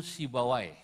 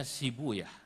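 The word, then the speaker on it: Sibawayh: Sibu Yahuna, asluhu Sibawai. Dalam satu lughat dibacanya Sibuyah.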